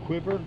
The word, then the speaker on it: Cuivre: we've made it to quiver river I think that's the way it's pronounced State Park it's a